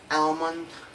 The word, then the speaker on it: almond: The letter L only has one rule, that is usually not pronounced after the vowel of the letter A, O, and U.